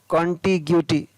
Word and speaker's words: contiguity: CONTIGUITY, कॉन्टिग्यूटी। ROGUISS, रोगिश। इन 4 words के अंदर GUE का उच्चारण है वो अलग अलग तरीके से हो रहा है, तो इन वर्ड्स को आप थोड़ा देख लें।